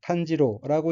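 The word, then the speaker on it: 炭治郎: 셋째 줄 첫 번째 한자는 한국어로 탄치랑이고 일본어로는 탄지로라고 읽으며 탄지로는 등장 인물 중 한 사람입니다. 다음 환자는 한국어로 이지조이고 일본어로는 이노스케라고 읽으며 이노스케 또 등장 인물 중에 한 사람입니다.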